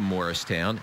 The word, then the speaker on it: Mauricetown: it Libby Truitt moved to Morristown it's spelled like the name Maurice 12 years ago she's